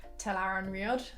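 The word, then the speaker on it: Tel'aran'rhiod: How would you pronounce this one? Telaran Riod.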